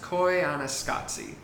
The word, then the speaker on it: Koyaanisqatsi: It is pronounced Koyaanisqatsi.